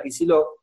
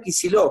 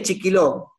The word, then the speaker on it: Kicillof: Y la gente no sabía ni pronunciar Kicillof. O sea, la gente te decía, ¿quién es Chiquiló?